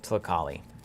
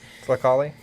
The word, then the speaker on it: Tlakali: So my immediate love with this is old Tlakali. Something I've gotten way better at pronouncing over time. Tlakali? And so so get the L in there.